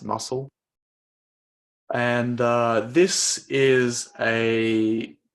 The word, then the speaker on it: musl: library called uh musl that's pronounced muscle and uh this is